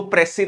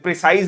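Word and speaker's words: précis: कुल मिला के मतलब एग्जाम्पल में प्रेसी राइटिंग का ये बहुत लोग तो प्रेसी राइटिंग को प्रोनाउंस ही गलत करते हैं, प्रिसाइज राइटिंग बोलते हैं, तो प्रेसी राइटिंग होता है, एस साइलेंट होता है।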